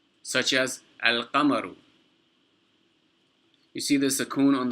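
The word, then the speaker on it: القمر: So you pronounce the sukoon on the lam, such as al-qamaru. You see the sukoon on the lam? You pronounce that, al-qamaru.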